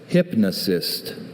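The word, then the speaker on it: hypnocyst: Hypnosist. Are there any alternate pronunciations?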